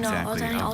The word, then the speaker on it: doina: Doina. Romanian borrowing, not many. There's just the one, doina.